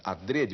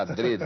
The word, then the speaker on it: adrede: um poema aqui chamado adrede o Aurélio recomenda adrede a pronúncia fechada adrede né que quer dizer